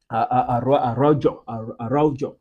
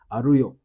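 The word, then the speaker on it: Araújo: Araujo. But I think the Uruguayan pronunciation should be Arroyo or something like that.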